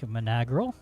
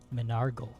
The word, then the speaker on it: Menargle: Hear the chanting of, you think, Menagrel. All right. Well, now or never. Menargle, sorry. A Menargle. It's been Menargle this whole time. Menargle. I've been saying it wrong this whole time.